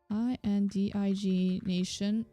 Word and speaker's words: indignation: I N D I I N D I G I N D I G nation meaning um how do you pronounce this?